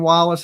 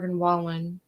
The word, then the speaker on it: Wallen: I I can't I don't wow U Morgan Wallace is donating a half a million to Tennessee Wallen is that how you say his name yeah